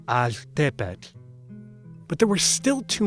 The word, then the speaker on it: altepetl: L's are particularly noticeable there, not altepetl, but altepetl.